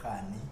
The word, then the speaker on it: Rani: time I get like when I introduce myself, I'm Rani. Yeah. Instead of Rani. So, Right. So it will happen. It becomes like a common because everyone they kind of pronounce it like Rani, and Rani in India is like a queen.